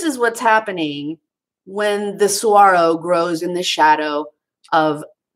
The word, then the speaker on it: Saguaro: Saguaro. Doesn't look like it's spelled either, does it?